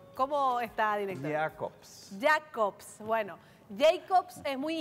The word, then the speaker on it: Jacobs: Yo digo Jacobs, pero él me dice que se pronuncia con el tono alemán. ¿Cómo está, director? Jacobs.